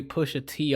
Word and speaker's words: Pusha T: You pronounced it wrong, Anthony. What did I say? Oh, it's Pushat instead of Yeah. Pusha T.